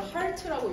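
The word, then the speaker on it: heart: 그쵸, 휴먼 헐트 레이트죠. 헐트가 아니라 하트라고 읽어야 된다.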